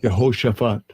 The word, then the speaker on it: Jehoshaphat: I'll just read this real quick, going into that word Jehoshaphat here in the blue letter. Strong's H 3092. Yeah, they ain't gonna know. Yehoshaphat. You gotta pronounce it. Yehoshaphat.